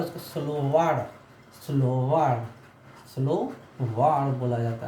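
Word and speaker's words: словарь: मैं प्रोनाउंसिएशन में बता रहा हूँ, उस प्रोनाउंसिएशन को भी आप रिपीट कीजिएगा। डिक्शनरी, जो डिक्शनरी होता है उसको स्लोवार्ड, स्लोवार्ड, स्लोवार्ड बोला जाता है, ठीक है।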